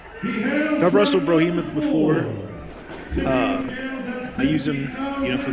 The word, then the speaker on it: Brohemoth: So they got the name wrong. Oh, they did? They got the name wrong. They didn't spell it right. It's Brohemoth. Ah. Yeah, that T doesn't need to be in there.